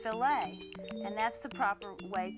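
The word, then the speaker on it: filet: If you're speaking about meat cookery, the French word f i l e t, it's pronounced filt. And that's the proper way to talk about a filt of beef.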